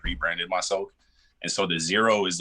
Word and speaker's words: Xero: sense and then um the x is just to be different it's like i didn't i didn't want to spell it with disease just to be different hey hey get that that little clickbait right there but i get people all the time still that spell that with the z and i'm like no it's x or people that'll hear my name zero and i'm like yo